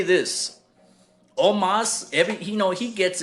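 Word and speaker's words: Omos: and the Nigerian giant Omas and um it's interesting that his his name is pronounced Omas because when you see a spell it looks like almost like it reminds me of Edward James Olmos you know what I'm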